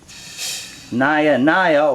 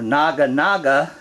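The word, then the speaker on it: Naja: your classic Cobras from India nyah-nyah or Naga Naga depending on how you want to pronounce it I pronounce it like the rest of us do here in the United States and as you can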